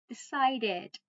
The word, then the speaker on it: decided: So I decided, right? Decided with DD in the end. Decided. Remember, we pronounce with ed if the word ends with t or d.